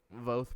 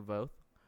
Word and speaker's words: VOTH: VOTH pronounced like both, but with a V. You know what I'm saying? Like VOTH.